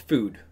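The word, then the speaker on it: FÜD: So it is pronounced Food, but it's spelled FUD. But those two dots make it the ooh sound, so we've got Food as our little restaurant.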